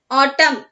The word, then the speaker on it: autumn: Autumn here the N is silent. Okay, so we pronounce the word as autumn.